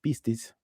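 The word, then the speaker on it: πίστις: Si alguien hablara griego en este momento y leyera lo que está escrito aquí, lo que oiríamos de su boca sería esto, ¿no? Pistis.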